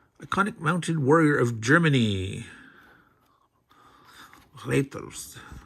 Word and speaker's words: Reiter: Reiters. Not raiders, but Reiters.